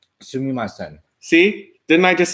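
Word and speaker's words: すみません: Sumimasen. Sumimasen.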